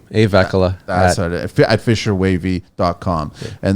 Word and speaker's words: Vehkala: How do you pronounce the last name? Vehkala.